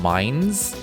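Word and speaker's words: Mainz: at one point it's supposed to be pronounced mines because it's the mine town and so it's called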